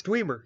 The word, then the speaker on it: Dwemer: Clem, it's Dwemer, yes. Yes, that's how you pronounce it now.